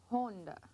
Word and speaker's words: Honda: If the O is pronounced O, then that means that would be Honda.